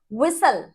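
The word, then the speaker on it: whistle: ऐसे ही विसल, Bansal and हसल, टी is silent here.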